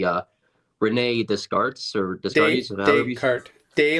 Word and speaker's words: Descartes: it correctly uh Renee discards or the story day like the day and night day Kurt like a horse cart Descartes instead of a night trolley it's a Descartes the Renee Descartes um